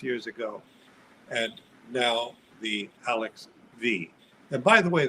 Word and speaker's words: Alexx V: the alex which was five six years ago and now the alex v and by the way the v is not to be pronounced as five as one might think v stands for the